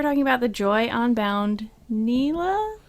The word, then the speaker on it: Nilah: about the joy onbound Nila Nyla Mila's how the casters pronounce it so I'm gonna trust him on this one I know she says her own name oh my gosh and I think it's Nyla okay so we were